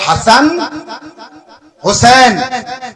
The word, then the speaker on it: হাসান হোসেন: বাংলা বলি হাসান হোসেন ওই যে দন্তস ওই দন্তস্য আপনার উচ্চারণে আসবে ওটা সিন সিন ওটা ছয় আনতে হবে তাহলে হাসান হোসেন এটা বলবেন তো আপনার আরো মিষ্টি লাগবে আরো ভালো লাগবে হাসান হোসেন বলবেন আর